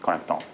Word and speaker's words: Connectome: The pronunciation is Connectome.